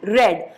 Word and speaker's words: read: Spelling same लिखी है, बट इसको प्रोनाउंस कैसे करूंगी मैं? रेड। Last year I रेड picture stories, this year I will रीड short stories. तो READ, रेड, स्पेलिंग सेम है, प्रोनाउंसिएशन अलग है।